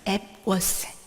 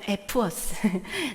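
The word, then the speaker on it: Epworth: 앱워스. 우리 예전 에버 청년회 할 때 그 앱워스. 영국 발음은 에프워스.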